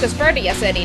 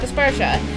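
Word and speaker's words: Aspertia City: anime the first town of this game is pronounced aseria City not aspersa so I don't have to be all confused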